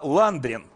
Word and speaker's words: Ландрин: все в том что фамилия феди было ландрин только с ударением на первый слог прозвание такой он получил